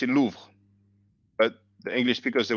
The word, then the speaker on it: Louvre: you have so when we pronounce it it's like one syllis um lots of words